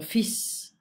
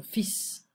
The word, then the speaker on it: fils: Mon fils, we don't pronounce the L. Mon fils, my son.